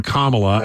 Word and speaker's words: Kamala: get this straight um she calls herself Kamala not Kamala so she's the authority on how she pronounces her name and we've got her on tape saying hi I'm I'm kamla and my my pronouns